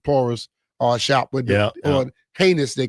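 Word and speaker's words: Ginés: Uh we went to the Churro and Porus uh shop with or heinous they call it G I N E S but it's it's pronounced heinous.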